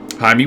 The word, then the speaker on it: James: call it my me Jaime works I was always thrown off by that the that Thomas Rodriguez his first name is James and that's just how they pronounce it Columbia apparently hey man I